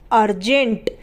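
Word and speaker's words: urgent: umbrella इस तरीके से यू आर जी आई एन टी यहां पर यू के बाद आर गए जो की कॉन्सोनेंट है जी है उसके बाद वो भी कॉन्सोनेंट है इसलिए यहां पर भी यू को पढ़ेंगे अर्जेंट अर्ज एंटी अर्जेंट तो यहां पर पुरी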